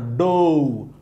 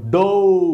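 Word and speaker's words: do: ও sound হওয়ার কথা ডো ডো এইরকম যেমন আমরা পড়েছিলাম গো নো তাইলে এখানেও তেমন হওয়ার কথা ডো কিন্তু দুঃখিত এই সাউন্ডটাকে আপনি ডো বললে সঠিক হবে না এই সাউন্ডটা হলো ডু বাংলায় যদি উচ্চারণ করেন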